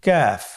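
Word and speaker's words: ك: নম্বর হরফটির নাম হলো কাফ তৃতীয় নম্বর হরফটির নাম কাফ কাফ উচ্চারণের ক্ষেত্রে অবশ্যই পাতলা করে উচ্চারণ করতে হবে এবং তিন আলিফ টেনে পড়তে হবে।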